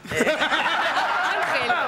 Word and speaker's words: Ángel: Tiene acento en la A. Ángel.